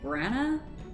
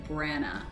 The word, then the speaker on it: Branagh: His name is Kenneth Branagh, and I am pronouncing it right.